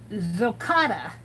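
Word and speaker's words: gokotta: It's pronounced, it's a noun, and it's pronounced as Zocotta. G-O-K-O-T-T-A.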